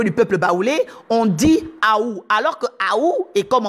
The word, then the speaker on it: août: Et donc, cette langue Ekan nous dit que le mois d'août s'écrit A-O-U-T. Et vous savez que ça veut dire Aou.